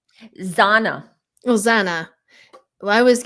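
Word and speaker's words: Xana: And the other thing I was getting with Ethan and his girlfriend, did you say her name is Zara? Zana.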